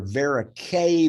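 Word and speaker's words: Verocay: about that and so these are verique bodies and a rhymes with type a schwannoma so or neural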